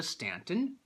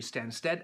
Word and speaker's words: Stansted: That would have been Naples to Stanton. That's pretty much London. I'm not pronouncing it right. It's actually Stansted.